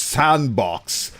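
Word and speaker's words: s&box: time to realize that it's actually pronounced sandbox and they just made the name like a very cool coder deal by having the sand the and in sand be the and symbol and took me a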